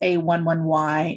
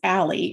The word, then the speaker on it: a11y: y is the numeral you say it as a 1 1 y and some people may say a 11y it's not pronounced as ally as being an ally or ally as in